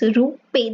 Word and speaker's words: RuPay: So the name it is, it is pronounced as RuPay. The name is based on Indian rupee, so RuPay.